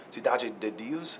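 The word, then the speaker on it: Cidade de Deus: Fernando mores who directed city of God or sidu Sidi Deus is how you say it uh I met him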